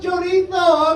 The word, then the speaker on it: chorizo: Like, it's pronounced chorizo, okay? I don't do. It's Spanish, not Italian.